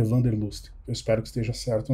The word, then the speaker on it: Wanderlust: de interações entusiasmantes, né, que em inglês é o Interaction Wanderlust, mas que um amigo alemão disse que a pronúncia certa é Wanderlust.